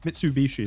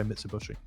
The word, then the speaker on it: Mitsubishi: to pronounce that one it's like how people always miss a mitsubishi mitsubishi is correct people say mr bushy same thing they're going